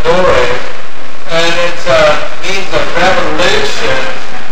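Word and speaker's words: dowr: The generation is the Hebrew word door, D-O-W-R, and pronounced dore, and it means a revolution, a time, i.e.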